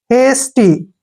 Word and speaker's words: hasty: देखिए HA का उच्चारण क्या करेंगे, हे, S को क्या पढ़ेंगे, स, और TY को टी। हेस्टी, हेस्टी क्या होता है,